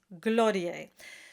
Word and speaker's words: Gloria: to keep in mind you have to Accent the first syllable glor and not glor then it sounds like a d and it sounds all wrong so it's gorier so practice this trick